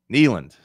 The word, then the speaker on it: Neyland: Knee. You got to emphasize the knee.